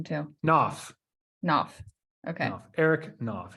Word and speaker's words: Knopf: Knopf. Knopf. Okay. Knopf. Eric Knopf. Yeah. 40% is silent.